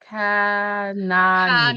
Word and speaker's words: Kanani: So, Kanani. Kanani. Kanani. Okay, Kanani. Kanani. Okay, so the H is silent.